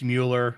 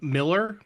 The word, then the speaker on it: Mueller: It's a German name. It's Mueller. It's standard. I know some people like to say it's Miller, but if you took the German translation into English, it's Miller.